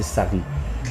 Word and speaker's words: Sareeh: Bah le prononcer mal prononcer notre là, non c'est Sari.